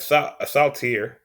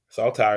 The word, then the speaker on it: saltire: the the scottish flag saltier saltire excuse me from saying it wrong also called saint andrew's